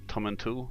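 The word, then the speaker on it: Tomintoul: a youth hostel at tommen tool I think it's pronounced uh which is a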